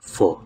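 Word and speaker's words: pho: Tapos ang tamang pag-pronounce ng PH yung noodles dito not fa. Okay? When you say fo kasi guys may other meaning sa kanila 'yun which is prostitute. Ang tamang pag-pronounce ng PH is fa. Fa not fa.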